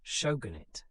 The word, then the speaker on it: shogunate: This military government was called the Shogunate, pronounced Shogunit, or Bakufu, pronounced fool.